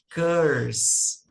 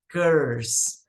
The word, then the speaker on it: curse: com a pronúncia é Curse Curse a pronúncia fica assim já curso o mais aberto né abr aqui sem pronunciar o e no final uma outra informação é